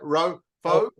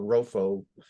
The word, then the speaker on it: Rofo: How do I pronounce it, John? You could probably say it. Rofo.